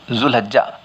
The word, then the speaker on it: ذوالحجہ: کرنے کی، تلفظ کی، کہ ذوالحجہ، کسی نے ذی الحجہ لکھا، اصل میں ذو پڑھنا چاہیے۔ عربی زبان میں جو